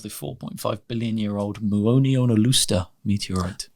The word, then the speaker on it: Muonionalusta: And then this dial, then it's a slice of the 4.5 billion year old Muonionalusta meteorite. That was exemplary pronunciation. Muonionalusta.